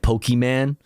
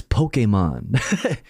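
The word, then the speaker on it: Pokémon: uh he would always say it wrong like Pokeman and I'd be like it's it's Pokemon stop who are who are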